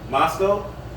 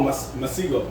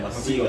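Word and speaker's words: Masego: Masco. You never heard him? Masco. I think that's how you say it. It's right there. Oh, Masigo. Yeah, Masigo.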